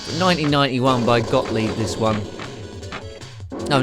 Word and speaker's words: Gottlieb: As I say, 1991 by Gottlieb, this one.